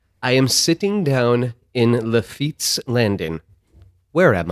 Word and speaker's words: Lafitte's Landing: I am sitting down in Lafitte's Landing. Where am I? For clarification, Lafitte is spelled L-A-F-I-T-T-E apostrophe S.